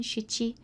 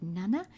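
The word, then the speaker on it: 七: Again, over here you can see with the number 7, shichi, they use an alternative nana, and that's most likely because shichi is very easily confused with other numbers such as hachi and ichi.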